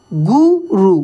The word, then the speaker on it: गुरु: थोड़ा सा ध्यान दीजिए यहां पे र में ये छोटी उ की मात्रा लगा है अगर बड़े उ की मात्रा रहता तो ऐसे रहता तो कैसे पढ़ेंगे गुरु दक्षिणा ठीक है चलिए माइनर